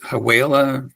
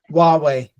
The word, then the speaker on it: Huawei: 10 phones uh I don't know how you pronounce it it was haa you know it's one of the Chinese phones um there were Samsung phones in there what's that Huawei Huawei yeah yeah anyway okay yeah I'll check